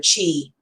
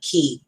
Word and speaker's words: ki: properly, especially for your chi, or I'm sorry, not chi, ki. It's spelled chi, but it's actually ki.